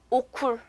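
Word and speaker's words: okul: 학교는 터키어로 오쿨이 됩니다. 자, 그럼 우리 여기까지도 원어민 발음으로 한번 알파벳 들어볼게요.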